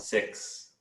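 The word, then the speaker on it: six: X sound, 6. 6. Yeah. It sounded like you said sick, like you're not feeling well, sick.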